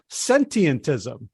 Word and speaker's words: sentientism: talk about a new word for me uh sentientism first of all did I say it right yeah that's a great start your pronunciation was perfect it has a few too